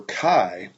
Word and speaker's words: chi: But anyway, chi, and that's how it's pronounced, chi, C-H-I, is simply the sum of the observed frequencies minus the expected frequencies squared divided by the expected frequencies.